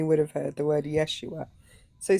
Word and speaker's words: Yeshua: Anyway, if you just listen, whenever they say Jesus, they don't say Jesus, they say Yeshua. Yeshua. Yeah, I was going to say Jesus's name in in Hebrew and Aramaic is Yeshua and not Jesus.